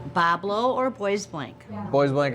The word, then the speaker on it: Bois Blanc: pronounce boys blink Pablo it depends on who you're talking to but my whole life we've said Boblo if your French is boblong what is it if you're a local Boblo or boy blank boys